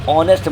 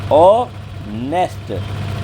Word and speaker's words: honest: Before a common noun से पहले आएगा, सिंगुलर होगा, लेकिन शुरुआत होगी साइलेंट एच के साथ, जो एच की आवाज़ नहीं आती।